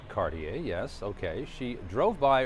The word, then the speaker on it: Cartier: A local woman, Caroline Cartier, pronounced Cartier, yes, okay.